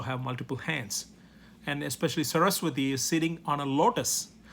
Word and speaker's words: Saraswati: brahma has a goddess his wife is named saraswati i'm going to write it down so you could spell it s a r a s w a t i saraswati saraswati has a role her role is